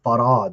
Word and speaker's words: Fard: like Master wajib no he was farad it was very clear that's how he pronounced it so he was changing